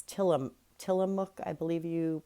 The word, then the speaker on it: Tillamook: It's Tillamook, I believe you pronounce it.